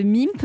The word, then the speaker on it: Mimpe: Vous avez 25 ans, vous êtes basé à Rennes, vous êtes le fondateur de MIMP. MIMP, ça s'écrit M-I-M-P-E.